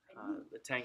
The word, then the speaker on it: Tang: We talked about the Tang Dynasty a little bit. You can pronounce it Chang as well.